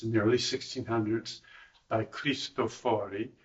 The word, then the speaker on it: Cristofori: the early 1600s, by Cristofori, or is it Cristofori. Cristofori. I always get the accent on the wrong so. Yeah. It's irregular this time. That's why you didn't know it.